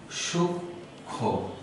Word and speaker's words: সূক্ষ্ম: তাহলে এটির উচ্চারণ হবে সূক্ষ্ম, ওকারান্ত উচ্চারণ হবে। এখানে আমরা দেখতে পাই যে মফলা যেহেতু চলে যাচ্ছে সে কারণে উচ্চারণে আমরা চন্দ্রবিন্দু ব্যবহার করব, কিন্তু বানানে নয়, উচ্চারণের